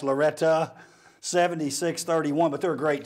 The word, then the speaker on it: Loretto: let's finish up talking a little fairview okay unfortunately the girls ran into a buzzsaw loretta spelled loretto pronounced loretta 76-31 but they're a